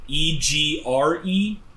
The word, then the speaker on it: egregore: So it's like Egregore.